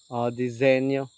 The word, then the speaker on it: Disenyo: DZNYO. Disenyo. Pwede ito siya disenyo ang pagkabigkas.